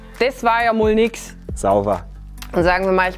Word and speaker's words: sauwer: ich denn da sagen sauber einfach nur ein Wort ja sauber sauber sauber mit WE mit we quasi von sauber wenn jemand was gut